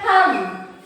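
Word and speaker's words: thumb: डब्लू मैंने बोला डिस्ट डब्ल्यू silent है। इसी तरह थंब थंब क्या बोलते हैं?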